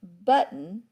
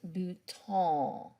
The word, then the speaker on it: bouton: is it is a button but you pronounce it and you got to get it up in your nose bhutan so this is a